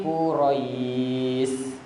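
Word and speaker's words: قُرَيْش: Kemudian kesalahan kedua pada huruf ro. Terkadang orang membacanya itu dia baca ra, padahal di situ dibaca ro. Jadi contohnya li'ilafi Quraisy. Jadi salah kalau begitu Bapak Ibu. Jadi yang benarnya itu adalah li'ilafi Quraisy. Ro bukan ra.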